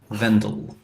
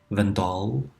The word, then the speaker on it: Wendell: Count Wendell. Do you pronounce it Wendell? Count Wendell. Hello, Count Wendell. Vendel. Or you could say the Waterdeepian Vendal.